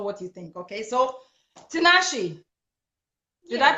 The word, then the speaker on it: Tinashe: You pronounced it perfectly, Tinashe.